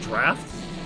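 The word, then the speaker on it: draught: i think oh drought drought looks like drought that's pronounced draft yes i would have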